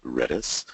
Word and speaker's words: Redis: It's an acronym for Remote Dictionary Server, and you pronounce it Redis.